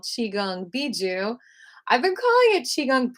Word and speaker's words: Bigu: misplaced the b or a p so it's Bijou and it's it's spelled b-i-g-u and I'm going to read a